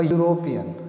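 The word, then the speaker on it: European: लेकिन उनकी जो साउंड है उनको जब हम प्रोनाउंस करते हैं, बोलते हैं, तो वो कॉन्सोनेंट की आवाज़ निकालते हैं। एग्जाम्पल, अ यूरोपियन, ये जो वर्ड है यूरोपियन ये ई से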